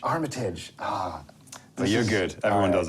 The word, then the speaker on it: Armitage: oh did I wait how do I pronounce no no it's it's Armitage Armitage ah you're good everyone